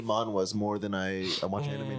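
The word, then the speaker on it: manhwa: me cuz it's it's it's what Ma it's m NH wa I thought it's wh ha is it wh ha we have pH actually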